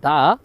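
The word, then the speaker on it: the: হচ্ছে টি এইচ ই এটার পরে যদি হচ্ছে কনসোনেন্ট থাকে তাহলে এটা টি এইচ ই দা হবে আর যদি টি এইচ ই এর পরে ভাওয়েল থাকে তাহলে এটা দি হবে আশা করি এই ক্লাসটা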